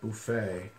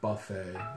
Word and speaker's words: buffet: lot of words that we emphasize the more French pronunciation like Buffay you know people there laugh at that they want to say Buffett instead of FA yeah